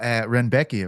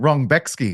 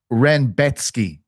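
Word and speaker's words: Rębecki: Oh, Renbecki apparently. Yeah, but they call him Rexki on the broadcast. I had to tell I had to get onto a Polish speaker to ask him how to say it because Oh, did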